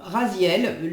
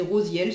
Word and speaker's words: Raziel: à suivre l'archange alors Raziel là il est dit prononcé rosienne moi c'est vrai que je dis toujours Raziel mais bon prononcez rosielle ce qui signifie secret